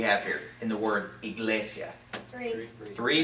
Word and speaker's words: iglesia: syllables do we have here in the word iglesia three syllables okay we're gonna divide it right here